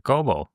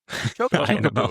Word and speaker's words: Chocobo: Chobo. Chocobo actually.